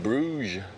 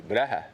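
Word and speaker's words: Brugge: It's the DC Bruge or Brea or how they say it locally, Brea. Yeah, this is a dred ship.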